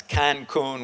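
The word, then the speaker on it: Kankun: splashed all over but it's spelled with 2 K's instead of 2 C's. It's Cancun with K-A-N-K, K-U-N, yeah.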